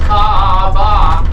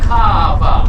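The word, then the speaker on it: Kaʻaʻa: upside down apostrophe so when you get to the okina you give it a slight pause That's Why in between all the A and Kaa there's an oina and that's why it's pronounced Kaa instead of kava but the Hawaiian alphabet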